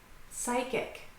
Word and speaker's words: psychic: Psychic.